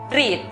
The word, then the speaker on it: read: La pronunciación correcta para la palabra leer es read.